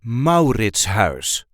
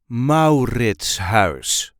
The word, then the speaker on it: Mauritshuis: This is the way we say MAURITSHUIS. MAURITSHUIS. So there is a light emphasis on the first syllable, MAURITSHUIS.